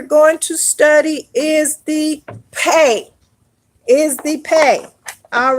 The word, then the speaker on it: Pe: Now, if you are researching the word, it may be written like this: pay or pay or pay.